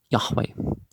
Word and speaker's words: Yahweh: of the presence of the 12 tribes for yahweh you know you don't pronounce the j is a j you say